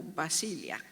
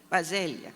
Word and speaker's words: Basaglia: it here in, I don't know if I pronounce it right, but the Franca e Franco Basilia. Basilea.